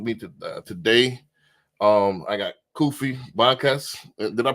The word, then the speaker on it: Kufi: special guest with me today um I got kofy Bas did I pronounce that right yes sir you did gotta